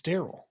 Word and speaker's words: Daryl: I'm going Darrell till corrected. I mean, I'm correcting you. It's Daryl.